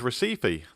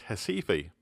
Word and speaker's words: Recife: it's big brother is Recife named after the Brazilian City so I guess it should really be pronounced Hesse fee anyway Recife is also